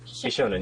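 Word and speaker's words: bishōnen: Bishonen, yeah, that's right. Hideyoshi Hideyoshi? Kota, thank you. So apparently I cannot pronounce this today.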